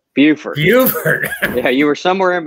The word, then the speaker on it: Beaufort: Beaufort.